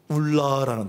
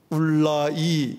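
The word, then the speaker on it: אולי: 그게 울라라는 단어입니다. 울라이 읽어도 되고 울라라고 읽어도 되는데, 울라가 좀 입에 익으실까봐 울라.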